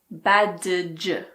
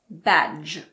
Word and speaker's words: badge: D is silent before the letter G. Badge. It's not badge. It's just badge.